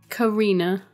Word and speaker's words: Carina: Carina. They can't spell it?